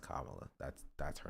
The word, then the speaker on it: Kamala: hate to be liberal here it's it's it's pronounced Kamala that's that's her name name is not Kamala